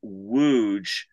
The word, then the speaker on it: Łódź: And we found this town called Łódź. That's the pronunciation in Poland.